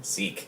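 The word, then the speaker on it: Sikh: Seek spelled with the religion. Seek.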